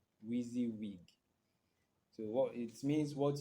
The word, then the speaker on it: WYSIWYG: WYSIWYG spelled as WYSIWYG, and it is pronounced as WEEEZEEWEEG. WYSIWYG.